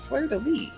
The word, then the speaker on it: fleur-de-lis: enough to correct me it is pronounced fleur-de-lis finally that would make sense actually i knew that was incorrect the way of saying s's are weird in french and thank you zack